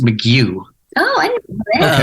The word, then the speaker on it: McGough: Well, the name's actually pronounced McGough.